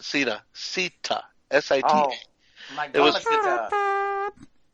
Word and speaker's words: Sita: Sita.